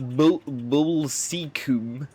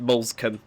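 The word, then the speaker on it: Moulsecoomb: Looks like it should be pronounced Molescombe, but it's just Molescombe.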